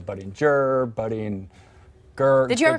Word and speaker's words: Budinger: I've been in an NBA studio, we have butchered your last name more than any other. Yes. So it's Chase Budinger. Budinger.